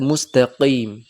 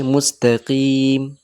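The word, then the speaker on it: مستقيم: অনেকজন কফ উচ্চারণ করতে গিয়ে অতিরিক্ত ভেতর থেকে উচ্চারণ করতে করে অর্থাৎ মুস্তাকিম মুস্তাকিম এটাও ভুল মিডিলে থাকবে মুস্তাকিম মুস্তাকিম এটা একটু প্র্যাকটিস করতে হবে ঠিক আছে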